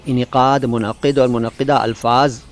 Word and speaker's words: मुनक़िद: मुनक़िद को कई बार मुनक़्क़िद कह दिया जाता है, जो कि सही उच्चारण नहीं है। सही तलफ़ुज़ है मुनक़िद, मुनक़िद, जल्दी में मुनक़िद लगता है।